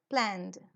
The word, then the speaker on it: planned: En qué en N Cómo será la pronunciación terminará la pronuncia con d o con t planned with d very good planed ahora